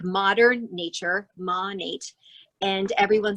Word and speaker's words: Monat: little goodies into my money bag so it's pronounced monet m like modern nature monat and everyone says it differently but that's the